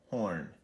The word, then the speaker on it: Horne: All right, so that was Infiltrator Heuwall Horne. Again, the E is silent, folks.